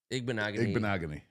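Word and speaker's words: Igbinoghene: Igbenogany.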